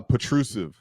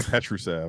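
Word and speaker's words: Petrušev: Uh his name is uh Patrusive, not Petrusv. I've been saying that wrong for a while now.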